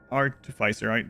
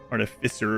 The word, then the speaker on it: artificer: I suppose they seek to silence me believing that an artifisicer, that's how I've always pronounced it. I know that most of these games when you hear it, it's artificer or something or whatever of the high house